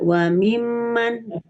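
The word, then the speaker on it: وممن: Tahan selama 2 harokat. Jadi tidak boleh cepat-cepat. Wa mimman, harus tahan. Wa mimman.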